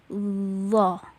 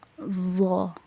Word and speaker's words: ظ: Jadi cara bacanya dho, dhi, dhu, baz, gitu. Jadi kalau kita membacanya zo, zi, itu salah ya, karena posisi lidahnya tidak nempel ke gigi seri atas.